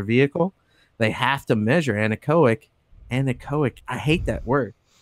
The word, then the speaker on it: anechoic: Anionic, how you say it? Anechoic.